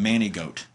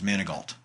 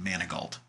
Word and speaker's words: Manigault: couldn't pronounce his name they called him Manny goat versus Manigault which was how it's correctly pronounced Manigault so they're calling a